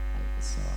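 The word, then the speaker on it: Al-Israa: hadratal mukarramin wal muhtaramin, para alim ulama, para asatidah, para hujaj, para sesepuh bin sepuh, wabil khusus ketua yayasan Al-Isra, tulisannya Al-Isra Pak, bacanya Al-Isra.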